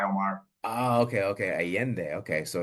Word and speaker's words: Allende: in San Miguel de Allende, Mexico. Did I say that right? Not Allende? quite, but you're close. San Miguel de Allende. That double L is pronounced like a Y, Omar. Oh, okay. Allende.